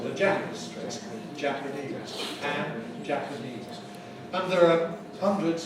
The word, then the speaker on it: Japan: So we see this if we compare Japan with the adjective Japanese. Japanese. Notice the vowels. A in Japan, where pan is stressed, but in Japanese, where the first syllable, the Jap is stressed.